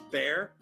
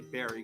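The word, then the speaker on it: Bare: So this song is a Bobby Berry song, or it's Bobby Bear. It's Bear. I always say Barry because it's spelled like the town of Barry, Vermont.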